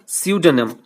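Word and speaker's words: pseudonym: this letter এই চিঠিতে সিউডেনেম সিউডোনেম এটা পি দিয়ে শুরু হলেও পি টা কিন্তু সাইলেন্ট থাকবে সিউডেনেম অফ দিস মার্চেন্ট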